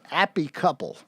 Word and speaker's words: Appy Couple: This one in proper British is Appy Couple.